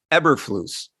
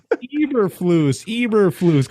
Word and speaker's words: Eberflus: Matt Eberflus. No, Eberflus.